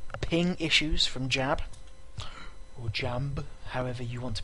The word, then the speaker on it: Jamb: Or Jamb, however you want to pronounce his queer-mosexual name. Oh yeah. He made it clear. He told me. He was telling me, it's Jam. J-A-M-B.